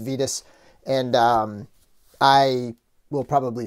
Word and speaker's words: Vitus: i always call him vitus but the four horsemen did confirm that his name is pronounced vetus and um i will